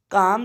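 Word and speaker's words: calm: काम से कामनेस, इसमें एल साइलेंट रहता है।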